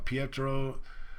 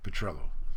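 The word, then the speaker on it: Petrillo: and Emory he was also talking to guy Petro who he later on in June whatever the date was he announced publicly that he was going to retain guy petrello sorry I said the name wrong earlier uh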